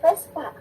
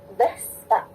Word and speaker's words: Vespa: Bunyi bah itu dibacanya F. Makanya teman-teman kalau mau beli motornya pasti yang bagus adalah motor Vespa, bukan Vespa.